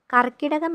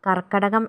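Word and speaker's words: കർക്കടകം: കൊല്ലവർഷത്തിലെ പന്ത്രണ്ടാമത്തെ മാസമാണ് കർക്കിടകം കർക്കിടകം എന്ന് തെറ്റായി ഉച്ചരിക്കുകയും പത്രങ്ങളും മാസികകളും അങ്ങനെ രേഖപ്പെടുത്തുന്നതായും കാണാറുണ്ട് പക്ഷേ ശരിയായ ഉച്ചാരണം കർക്കിടകം എന്നാണ് സൂര്യൻ കർക്കിടകം രാശിയിലൂടെ സഞ്ചരിക്കുന്ന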